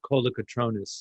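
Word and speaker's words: Kolokotrones: It's a lovely couple who gave the award, and their name is pronounced Colocatronis, like phonetic.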